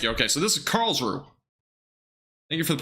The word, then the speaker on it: Karlsruhe: Okay, so this is Karlsruhe. Thank you for the pronunciation, by the way, in chat.